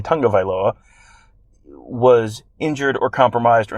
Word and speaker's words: Tagovailoa: If Alabama loses this weekend, it's because Tua Tagovailoa, excuse me, let me say it correctly, Tagovailoa was injured or compromised or not 100% or out or whatever it is, and therefore it doesn't count.